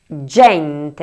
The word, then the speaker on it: gente: Por última, la número 5 se pronuncia GENTE (gente).